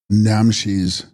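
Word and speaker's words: rnam-shes: Text, Namshis, pronounced namshi, Sanskrit vijnana, or preferably chaitanya, conscious principle or object knowing principle.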